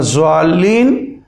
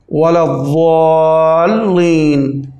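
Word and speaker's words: وَلَا الضَّالِّينَ: তো এটা না যাল্লিন না দাল্লিন, ওয়ালাদ-দাল্লিন, দাল এবং জালের মাঝখানের আওয়াজ আসবে। আশা রাখি আপনি বুঝতে পেরেছেন।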